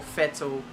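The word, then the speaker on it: Vettel: now I think including vetal or fetal as a lot of German people tell me to pronounce but now we're in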